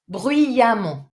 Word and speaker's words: bruyamment: Concretely, bruyant, bruyamment. So again, the same pronunciation, amant, but this time fair enough because it's an actual A.